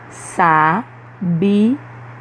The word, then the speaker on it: sabiá: vamos lá saber a sabiá na palavra na palavra que a gente acabou de ler a última sílaba é pronunciada com mais intensidade observa em sabiá sabiá agora vamos ver outros